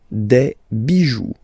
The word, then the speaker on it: bijoux: Pluriel, des bijoux, okay? Then, un caillou, plural, des cailloux. Okay, remember, you don't pronounce it, the final X.